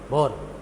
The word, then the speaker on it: Bohr: हाँ बोहर है, हाँ ऐसा होता है बोर, तो इसे बोर भी कह देते हैं। कुछ लोग है को साइलेंट बोल देते हैं, तो नील्स बोर का मॉडल कह देते हैं।